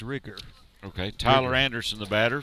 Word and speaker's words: Rieger: One of their parents has told us it is Rigger. Okay, Tyler Anderson, the batter for the Wildcats. Did I pronounce it correctly? Yes. Rigger.